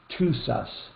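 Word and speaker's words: Tusas: the correct pronunciation of that mountain range is to sus i think is how he is what he's trying to say t-o-o apostrophe s-u-s two sus uh uh we're getting close to the end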